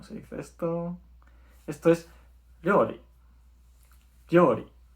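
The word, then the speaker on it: 料理: Esto es ryori. Ryori. ¿Os acordáis cuando ponemos la yo pequeñita al lado de la ri? Pues se hace ryo. Entonces, ryori.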